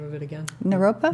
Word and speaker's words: Naropa: do you say the name of it again Naropa Naropa University to be the dance teacher or yeah